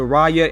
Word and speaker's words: Raya: figure i'm also here you see that the raya and the last dragon pops are starting to